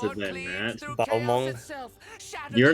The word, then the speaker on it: Balmung: When using Balamug!